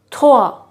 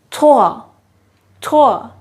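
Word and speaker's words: trois: as do do do three is pronounced as toa toa is that not easy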